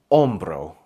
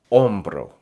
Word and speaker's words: hombro: If you're still pronouncing the H in the word hombro, don't worry.